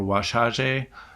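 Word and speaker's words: Wazhazhe: tink tinker who's an osage uh or washaj um to use a better pronunciation he's an osage thinker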